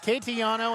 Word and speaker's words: Castellano: Castellano, spelled Castellano, pronounced Catellano, and the Braves with the steal off the press.